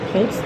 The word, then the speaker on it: Ponce: We're at Ponce. I feel like you gotta say it like that. Ponce City Market, because it's Ponce de Leon.